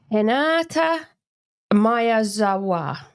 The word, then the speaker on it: Hinata Miyazawa: So try and pronounce her name again. Hinata Miyazawa.